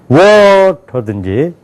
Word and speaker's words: water: T 발음은 원래 크게 발음이 나게 돼 있어요. 근데 우리는 어떻게 발음해야 돼요? 작게 해야지만 되잖아요. water 이렇게 되잖아요. 그러니까 작게 하려니까 할 수 없이 러 그러는 거예요. 워러 된 게 아니라 워러 이렇게 된다고요.